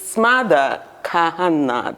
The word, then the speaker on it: Smadar Kahana: i was discussing with smother kahanna that's how to pronounce your name right very good yeah no it's not